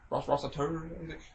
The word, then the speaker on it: Resetar: like toast 21 damn like what's your name Rossiter you just butchered it I'm like recive tolerably well nobody